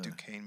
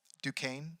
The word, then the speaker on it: Duquesne: Duquesne. Duquesne. Yeah, it's spelled odd. It's like it's a French thing.